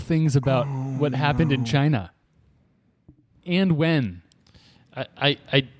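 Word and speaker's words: Qin: on your board or are the two chin q i n Ching q i n g well here goes nothing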